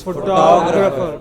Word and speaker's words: photographer: Photographer. Photographer. Not photographer. Photographer. What is it?